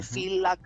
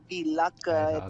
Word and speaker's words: Villach: feltri perché la busi pronuncia f come phil laak non è villach ben feder e la